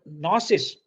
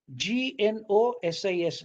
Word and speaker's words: gnosis: phonetically though it is the g is not pronounced it is retained in spelling because this g is